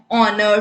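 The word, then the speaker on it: honour: Alphabet से, ठीक है, लेकिन एच जो है वो साइलेंट है, तो सीधी सी बात है, इसका मतलब क्या है, जो पहला साउंड होगा वो ओ का आएगा, ठीक है। ऑनर, ठीक है, ऑनरेबल।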